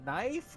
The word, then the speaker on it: knife: you saying like a knife are you what are you saying it's not a knife okay the K is silent where did you go